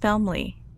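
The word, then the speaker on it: Felmley: The idea of homecoming was the brainchild of our sixth president, President Felmeli. It's pronounced Felmeli.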